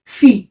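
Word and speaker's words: fille: इसको हम प्रोनाउंस करेंगे फी कैसे बोलोगे फी आई डब ए को प्रोनाउंस करेंगे ई करके तो क्या प्रस क्या प्रोनंसिएशन हुआ इसका फी क्या हुआ फी इसका मीनिंग क्या होता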